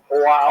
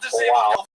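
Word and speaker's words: João: what, I could go to my relative, King Joao of Portugal. I love saying that name. I know I'm saying it wrong, but I like saying Joao.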